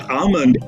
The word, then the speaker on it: almond: to be pronounced so for the word Armond L is silent now unless somebody has